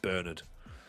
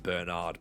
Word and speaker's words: Bernard: It's only a just bloke name if you pronounce it Bernard rather than Bernard.